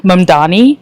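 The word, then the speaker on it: Mamdani: Mannani he said say my name M A M D A N I say my name Donald Trump turn up the volume.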